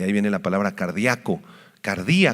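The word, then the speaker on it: καρδία: viene la palabra cardíaco cardí con k y acento en la i en griego cardí Y ustedes ya saben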